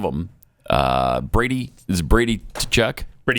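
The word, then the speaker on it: Tkachuk: uh Brady is Brady Kachchuck. Brady Kachchuck. Kachchuck. Uh so you don't pronounce the T? No. Brady Kachchuck went back to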